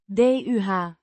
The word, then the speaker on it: de: Pronounced. DUH. Similar to the English word duh.